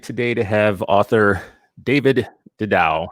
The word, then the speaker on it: Didau: I am excited today to have author David de Dowell how do you say your last name David died ow guide ow yeah author trainer lecturer speaker researcher